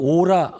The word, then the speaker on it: 아우라: 게가 뭔가 하니 이제 여러분들 오라 아우라라는 또 아우라고 발음 하더라고이 이전에는 전 오라라 그러는데 아우라가 있는데 생각에이 아우라라는 건